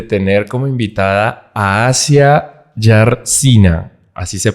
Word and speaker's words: Jarzyna: Bueno, estamos en una nueva sesión de Quant Sessions y estamos muy felices de tener como invitada a Asia Yarsina, así se pronuncia, ¿verdad?